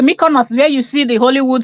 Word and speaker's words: Mykonos: she living I beg how is this one pronounced she said my corner this is the Mykonos where you see the